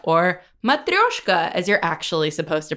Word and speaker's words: matryoshka: today we're discussing season six episode ten entitled matroyshka or matryoshka as you're actually supposed to pronounce it Russian doll now streaming on Netflix